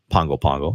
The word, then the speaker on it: Pago Pago: go to the Weather Service office obviously in Pongo Pongo and as I said earlier that it's spelled like Pago Pago but pronounced Pongo follow